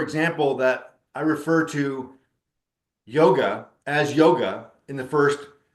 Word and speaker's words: yoga: that I refer to yoga as yoga in the first third of the book and after the glosser turn when I descri when I describe that yog is the actual pronunciation it's correct spelling the